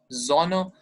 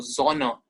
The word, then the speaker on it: Sonne: S, so sound, Sonne. But here in German, S is pronounced as Z, so Sonne, not Sonne. Sonne.